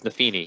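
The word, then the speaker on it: Nephenee: Is it Nefini? Nafini, yeah. Is this how The it's Nobly girl. pronounced? It's Nafini, yeah, Really?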